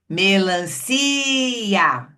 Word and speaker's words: melancia: O que acontece é que aqui a gente tem uma vogal, aqui outra vogal e o si que tem esse som estendido é pronunciado separadamente do A.